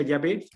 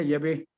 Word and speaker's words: Yahweh: Y también estaba viendo que la palabra Jehová en hebreo se pronuncia Yahvé, se escribe Yahweh, se pronuncia Yahvé, o Dios.